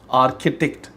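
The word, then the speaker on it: architect: In the first set, CH pronounced as K, आर्किटेक्ट, काप, K की आवाज़ देता है, ठीक है, करेक्टर वगैरह।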